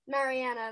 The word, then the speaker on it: Mariana: Mariana, that's how it's pronounced.